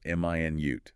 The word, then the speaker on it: minute: M i nute. That's the unit of time 60 seconds. Stress on the second syllable minute. That's the adjective meaning very very small tiny.